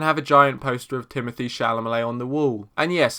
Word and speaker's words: Timothée Chalamet: Your Name, and have a giant poster of Timothée Chalamet on the wall. And yes, that's the correct pronunciation of his name.